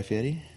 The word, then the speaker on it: Fieri: I like how you pronounce his name properly. Guy Fieri?